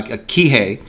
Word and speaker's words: Kihei: in in uh in a place called uh Kihei uh which is on the good job baby hey I pronounce it right um and so great this